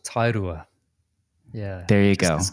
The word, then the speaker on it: Tairua: I live in a small Beach town called tairua yeah there you go a couple of hours